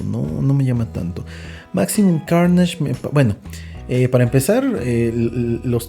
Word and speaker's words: Carnage: No es porque si no lo puedes pronunciar en inglés, mejor no lo pronuncies, amigo. Carnage.